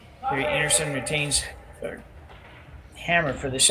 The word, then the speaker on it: Einarson: But even Kerri's last name is pronounced Einarson, and we sometimes get a little guilty. Amazing, it's going to Einarson, so we'll try to be better. That one I did know, but I've met people with the same last name, spelt the same way, and they pronounced it Einarson.